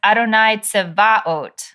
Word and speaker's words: Adonai: my community always says Adonai like shifts the stress back one syllable, which is comes like